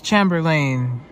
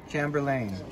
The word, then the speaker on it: Chamberlain: So, people, this is the Smart Garage Door Controller, and this is made by, how do you pronounce this word? Chamberlain? It's Chamberlain. Chamberlain.